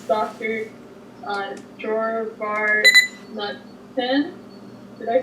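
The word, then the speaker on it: Dror Bar-Natan: Dor Natan. Did I say that right? I didn't want to confirm. Draw Barnatan.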